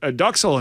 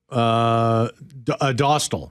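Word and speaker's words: Dostál: But Duxell and net there. Is that how you say it? Dostal.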